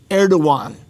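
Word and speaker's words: Erdoğan: His name is Erdogan. Just to respond. His name again? Pardon? Say his name again. Erdogan, and it's spelled funny. It's Erdogan, but it's pronounced Erdogan.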